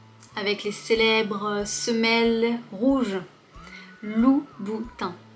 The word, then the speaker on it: Louboutin: Louboutin. Louboutin. Je pense pas que ce soit particulièrement difficile à prononcer pour toi. Louboutin. Trois syllabes, plutôt simple. Tu vois que le son 1 peut aussi s'écrire IN.